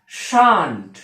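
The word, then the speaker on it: shan't: আরেকটা কথা বলবো, যদি আমরা কখনো শ্যাল বসাই এবং শ্যালের পরে যদি নেগেটিভ নট করি, তখন তার উচ্চারণ হবে এরকম, শান্ট, শান্ট।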